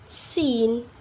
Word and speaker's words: scene: So in letter C we not pronounce it when the letter C comes after the letter S. For example, like scissors, scene, scenario. Yep. Can you hear it? The letter C, I'm not pronounce it because after letter C we have letter S.